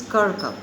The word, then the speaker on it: Kirkup: no men are foreign by james kerker the pronunciation is kirkham guys you open the copy note down the